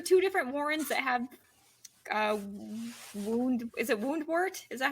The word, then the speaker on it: Woundwort: And then I'm trying to remember, is there two different Warrens that have Woundwort? Is that how it's said? Yeah, Woundwort.